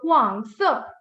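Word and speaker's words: 黄色: See, the syllable is ending with G, so you pronounce the G. So Huang Se.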